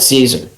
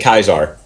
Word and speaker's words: Caesar: Well, considering I am an advocate of the NCR, I will call it Caesar. What? Well, It's pronounced. They pronounce it Kaiser.